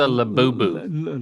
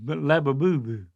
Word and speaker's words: Labubu: This is a labubu. labubu? See, I wouldn't even going to say it like that till you said it. Y'all should have let me pronounce it. Yep. Labadee labubu labu labu labubu.